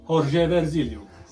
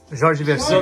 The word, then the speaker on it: Jorge Vercillo: I mention, of course, that first of all came Jorge Versilio. Jorge Versilo. Jorge Versilio. No, but this is good. It's from Finland, man. You're pronunciating like this, Yeah.